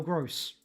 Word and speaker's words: Gross: Pascal Gross. Rhymes with so close.